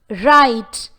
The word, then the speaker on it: write: When the letter W is followed by the letter R, the W sound is unheard. Examples: write, W-R-I-T-E.